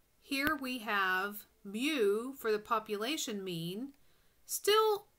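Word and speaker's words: μ: This symbol is pronounced mu, and is the mean of all values in a population.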